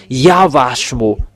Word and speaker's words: Yahvah: Is it Wa or Va? And I give you the answer. It's Va.